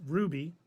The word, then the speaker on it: RWBY: And now all the Rooster Teeth stuff is exclusively on Max, except for RWBY, pronounced Ruby.